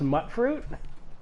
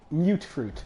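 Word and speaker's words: Mutfruit: Also, I found out this isn't pronounced mutt fruit. Is it pronounced moot fruit? Mute fruit. Oh! Because it's mutated fruit.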